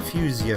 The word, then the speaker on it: Fuchsia: Fuchsia Fantasy or you should you should probably pronounce it Fusia Fantasy. Pronounce it how you want though.